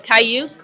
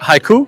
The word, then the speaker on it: haiku: grade when we had to write a kauk. I think that's how you say it. Haiku. A haiku. Yeah.